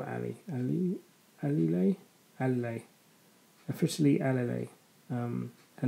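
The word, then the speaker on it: Alile: realized it's not early light spell ali ali ali lay officially lla um her name is spelled a l i l e do give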